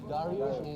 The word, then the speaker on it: Darush: Dar, you know, Darush is the Persian pronunciation for Darius.